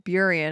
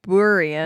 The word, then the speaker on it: Burien: it took place in Burien, and they were calling it Burien. Whoa. And I was like, it's Burien, god damn it.